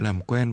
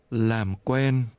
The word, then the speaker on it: làm quen: Làm quen. Làm quen. Quen. Quen. Làm. Làm. Làm quen. Làm quen. Làm quen. Làm quen. This is pronounced with a low, falling, and a mid-level tone.